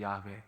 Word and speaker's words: 야훼: 그래서 그거를 굳이 발음을 하자면 윷해와해, 윷해와해, 유해와해, 유해와해, 야훼 이렇게 되는 거거든요, 발음이.